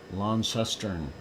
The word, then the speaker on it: Launceston: Launceston.